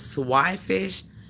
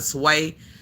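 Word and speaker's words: swai: I kind of like Have y'all heard of swish? S w ai sw. Have anybody heard of swish? Swag. Swag fish. Anybody in the chat ever heard of Swag? They call some people call it Sway, but it's pronounced Swi.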